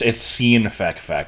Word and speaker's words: Sinfekfek: It's Sinfekfek, but I always feel like I'm trying too hard if I say it that way.